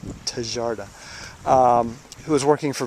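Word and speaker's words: Tjaarda: designed by Tom charda which is spelled TJ a r TJ a a RDA tarda um who was working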